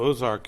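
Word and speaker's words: Aux Arcs: And it's spelled Aoxarc, Ozark. Yeah, that was the original spelling. When the French owned Arkansas, they spelled it Ozark, A-U-X.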